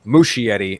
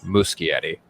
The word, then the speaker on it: Muschietti: before i heard it i always thought it was mushy eddie and then upon hearing it actually phonetically pronounced it's muscularity yeah i i think